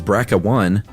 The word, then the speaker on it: BRCA1: on a regular basis how would you know to pronounce the gene brca1 as bracca one and CDO is kiddo